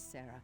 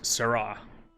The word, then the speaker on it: Sarah: Please, Sarah, make sure he doesn't board that ship. You mispronounced it. It's Sarah.